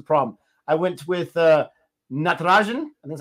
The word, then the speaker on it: Natarajan: overseas players the problem i went with uh natarajan and that's how you say it third like